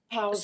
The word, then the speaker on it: Pau: Powell's So name? So it's spelled P-A-U. It's the first 3 letters of my name, and then it's pronounced like Pau. P-A-U, Powell.